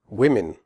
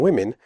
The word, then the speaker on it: women: not say on swear women the O in women has a different sound than the O in the singular form woman in women the o is pronounced e as in the word win the e in women